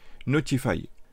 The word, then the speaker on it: ntfy: directement sur son acinologie notify qui s'écrit ntfy une solution open source